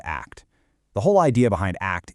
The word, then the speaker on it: ACT: And we pronounce it just like the word act.